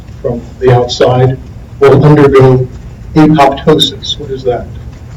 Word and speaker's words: apoptosis: When I was in graduate school, we didn't quite know how to pronounce the term. He pronounced it apoptosis.